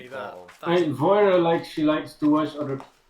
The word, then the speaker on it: Vajra: you met and I found out how to pronounce this name properly. It's Voira, apparently.